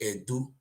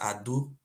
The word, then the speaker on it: Ado: not change it to edu the real pronunciation is ado a d o I